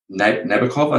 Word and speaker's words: Nabokov: And attributed to Vladimir Nabokov, I think is how to pronounce it. Yeah, that's right.